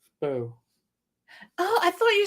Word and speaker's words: Beau: uh you know, uh Pew is pronounced Bo. Oh, Boelle. B A B E A U is Bo.